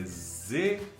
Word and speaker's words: Zweig: É Z-W-E-I-G, é isso? Z-W-E-I-G. Se fala Zweig, porque Z em alemão se pronuncia Ts e W se pronuncia V.